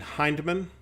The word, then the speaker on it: Hindman: Hindman, on the other hand, I don't know if it's Hindman or Hindman. It's Hindman. Fella I know that whose name is spelled that way pronounces his own last name Hindman.